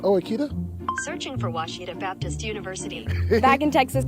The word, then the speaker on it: Washita: Searching for Washita Baptist University. Back in Texas, everybody pronounces it Wichita, but really, it's Washita. Washita. Washita.